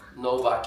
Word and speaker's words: Novak: I'm not into tennis, but Just Novak, say Novak. Novak.